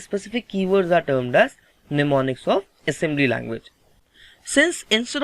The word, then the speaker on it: mnemonics: This word is pronounced as mnemonics. Here this M is silent, so you don't have to read this M. Fine. It will be simply mnemonics.